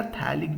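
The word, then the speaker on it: phthalic: इसको हम पैथेलिक एसिड कहते हैं। पैथेलिक एसिड कहते हैं या थैलिक भी उसको कुछ प्रोनाउंस करते हैं।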